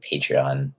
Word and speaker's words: Patreon: rat eat on my patreon love the information oh thanks I appreciate it also I always butcher the word patreon I like why I read patron that's why I said paid yeah patreon anyone